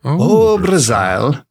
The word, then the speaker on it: O Brazile: O Brazile. Which makes it sound a bit more Welsh, like O Brazil.